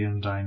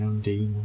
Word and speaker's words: Undine: going to be joining Undyne, Undine, whatever you want to call them. Depends on how you want to pronounce it, I guess. The Undine will destroy the disconnected Borg ships. Undine. Stop them. I've heard it in the game pronounced both ways, so take your pick.